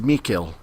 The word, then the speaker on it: Mikkel: the English voice actors was different so Josh and I have a hard time yeah they stress it as me kill but you know it's